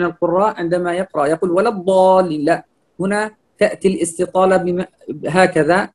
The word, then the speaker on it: الضالين: الله هنا مضمومة مفخمة ولا الضالين هنا الواو مرققة ولا الضالين ولا اللام والواو مرققة والضاد هنا مفخم مشدد مفتوح فنفتح الفم ونأتي بالاستطالة التي ينساها كثير من القراء عندما يقرأ يقول ولا الضالين لا هنا تأتي الاستطالة